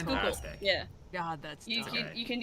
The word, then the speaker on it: Schuylkill: Yeah, is that how you pronounce it? Is it Schuylkill? Yeah. It's Schuylkill.